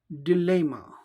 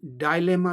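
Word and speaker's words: dilemma: हारी वाइज इन आ डिलेमा glamour या इसका उच्चारण डायलेमा भी होता है डिलेमा या डाल लें दोनों ठीक है कि अब इस बात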